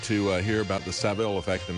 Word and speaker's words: Savile: The person who embodied that probably the most there was uh Jimmy Savile and uh or Savile, we should say. Uh that's I keep going back to the American uh pronunciation of it.